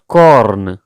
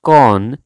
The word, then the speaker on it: corn: It's not corn, it's corn. Like R is silence in this word, corn.